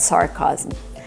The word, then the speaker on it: sarcasm: We need the short ass sound like black cat for the second syllable. Chasm. Remember, this word has 3 syllables. Sarcasm. It looks like 2 syllables, but it's 3.